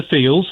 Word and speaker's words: Thiel: So it's your Curtis Yarvins, it's your Peter Thiels, that long streaky... Thiel, apparently. I mispronounced that.